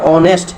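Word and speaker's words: honest: তারপর দেখো এখানে অনেস্ট, এখানে কিন্তু আমরা হনেস্ট কই না, এটা হলো অনেস্ট। অনেস্ট তো কি সৎ, অনেস্ট কোনো শব্দ না, এটা হলো অনেস্ট, তার মানে ও এর উচ্চারণ হয়েছে, কার, ভাইল সাউন্ডের উচ্চারণ হয়েছে।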